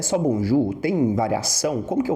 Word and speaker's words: bonjour: E a principal expressão pro bom dia do francês é bonju. Muita atenção na pronúncia do ou U. É o nosso Ugu. Bonju. Bonju, não vai ser bonjou, bonju.